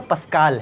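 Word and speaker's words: Pascal: वास्तव में इसका सही प्रोनाउंसिएशन तो पास्कल है, क्योंकि वो फ्रेंच साइंटिस्ट थे, पर हम उसको सामान्यतः पास्कल कह देते हैं।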